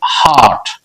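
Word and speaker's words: heart: ঠিক একই রকম হবে হার্ট, হার্ট, ই এর উচ্চারণ দীর্ঘ আ এর মতো।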